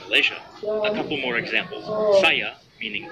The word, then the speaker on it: saya: Saya, meaning I, is pronounced saya.